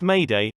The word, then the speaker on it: mayday: how the pilots speak sos mayday pronounced mayday although literally translated from english as may day is an international distress signal similar to the sos signal and comes from the french marae des help 20 how many years